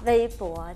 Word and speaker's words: Weibo: o ค่ะ B Bo แต่ เรา ออก เสียง เป็น เหมือน ภาษา จีน ถูก มั้ย คะ ถ้า ทั่ว ไป อาจ จะ สกด กัน เ โบ หรือ เปล่า นะ แต่ ที่ ถูก ต้อง คือ เวย ปั๋ เว ปั๋ว ใช่ ค่ะ แล้ว เวย